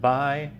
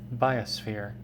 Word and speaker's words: biosphere: They say it's pronounced bi-us-phere, biosphere. I like to say the O, biosphere. You can say it either way.